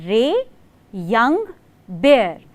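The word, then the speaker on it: Ray Young Bear: इज रे यंग बेयर यस यू हर्ड me right रे यंग बेयर बिल्कुल भालू वाले बेयर की ही स्पेलिंग है आर ए वाई रे वाई ओ यू एन जी या एंड बेयर सो the poet is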